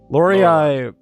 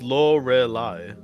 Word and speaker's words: Lorelei: Lorei. Yeah. Yeah, I'm trying to help you pronounce it. Am I saying it wrong? Yes. How do you say it? Yes. It's Lorelei. Lorelei.